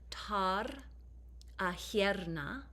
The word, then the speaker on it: tar ahierna: And so how you pronounce these words are tar ahierna, tar ahi. And in parentheses here, I kind of tried to spell that phonetically. Tar ahierna, tar ahi.